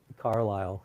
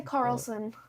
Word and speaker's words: Carlisle: Carlisle. Carlisle. That's Carlisle? Yeah, that's how you say Carlisle. I wanted to say Carlson.